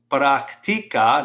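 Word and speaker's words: práctica: El muchacho atlético practica, notice how I pronounce that, put the stress on that I. Practica, say that, practica.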